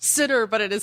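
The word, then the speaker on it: Synnar: mhm what's his name I hate Comic Book pronounced sitter but it is spelled s y n n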